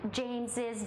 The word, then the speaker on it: James's: These proper names end in S. They are pronounced with ziz at the end. James's book, Jesus's name.